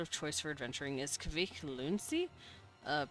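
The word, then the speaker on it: Kvikk Lunsj: Uh, in Norway, our chocolate of choice for adventuring is Kavik Luni. Uh, pronounced basically the same as quick lunch.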